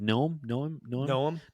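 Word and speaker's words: Noem: Noam?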